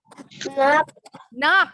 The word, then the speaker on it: knock: Bacanya gimana nih? Knock, well done.